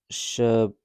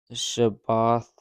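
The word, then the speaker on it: Shibboleth: Then they would say, "All right, say shabboth." If he said shaboth, shabalth, the way he said the word would give him a will or give him away. He wouldn't say it correctly.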